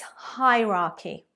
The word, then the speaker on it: hierarchy: Number 2, this is often a pronunciation mistake made by non-native speakers because there is a CH in the word. It's not hierarchy or hierarchy. Absolutely not. It's hierarchy, hierarchy.